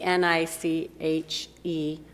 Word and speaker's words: Niche: I did ask him how he pronounced they pronounce it so it's the ni c h e group yeah niche and so how he explained